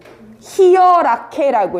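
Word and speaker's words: Hierarchie: 히어라케라고 읽을 겁니다.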